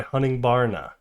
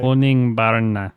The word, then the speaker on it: Honningbarna: I've been listening to Soft Spot by Honningbarna. I think that's how it's said anyway. Honningbarna. Honningbarna.